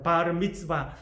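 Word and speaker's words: Bar Mitzvah: 만으로 13살 이 되면 성년식을 하게 됩니다 예슬 발음 b 쓰바 라고 말합니다 바르 미츠바 남자들은 바르 미츠바 여자들은 바른 빛이 빼라고 냥이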